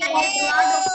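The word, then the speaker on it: ض: জিহ্বার গোড়ার কিনারা উপরের মাড়ির দাঁতের গোড়ার সাথে লাগিয়ে দোয়াদ অক্ষরটি আশা করি আপনারা এখন এই অক্ষরটা উচ্চারণ।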